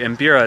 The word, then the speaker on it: mbira: from this instrument called the imbira and the embira it's spelled m b i r a if you